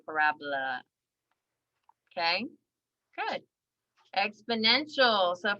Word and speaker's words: parabola: And I know it's spelled like parabola, but it's actually parabola.